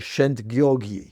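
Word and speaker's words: Szent-Györgyi: I've figured out the pronunciation. I've been told the pronunciation since our last conversation about this. Albert Shent Gyorgi.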